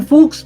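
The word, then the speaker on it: Fuchs: लेकिन उससे पहले लेफ्ट बैक एक और शॉट आउट देना चाहूंगा, क्रिश्चियन फूक्स भाई, फूक्स है उसका pronunciation, don't get it wrong.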